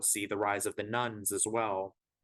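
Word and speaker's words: nones: the rise of the nuns as well that's spelled n-o-n-e-s not n-u-n-s these nuns are people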